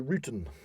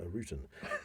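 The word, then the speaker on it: Ruten: The bundle is actually a traditional symbol of Alpine pagan origin, known as a rutan. A rutan? A rutan. Spelled R-U-T-E-N. Or rutan. Rutan, okay. Rutan. I'll pronounce it rutan.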